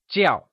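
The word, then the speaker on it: 叫: Jiào is pronounced in the falling tone, also known as the fourth tone Lets hear you say Jiào!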